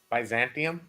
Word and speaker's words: Byzantium: this movie I say advising say it again Byzantium okay that's how I was pronouncing it but I was like is there